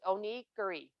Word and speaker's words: onigiri: the side of me so O'Neill Jerry it's onigiri is how you say it so o-h-n-i-g-e-e-r-e-e so that's how you pronounce the name but stuff rice balls is